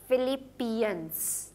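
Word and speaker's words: Philippians: ऑफ फिलिपियन ठीक है उसको आप प्रोनाउंस करते हैं ये पी एच आई एल ए प फिलिपीयंस ठीक है फिलिप यंस क्योंकि डबल पी है तो आप एक ही साउंड प्रोड्यूस करेंगे डबल पी की सो दैट वुड बी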